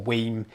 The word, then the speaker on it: WiiM: original Pro streamer from whim or weim it depends how you say it there's not a right and wrong way some people po in